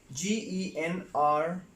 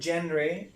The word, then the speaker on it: genre: Well, the next word is G-E-N-R-E. The word is not genre. The word is genre. The word is genre, right? Genre. Again, once again, genre.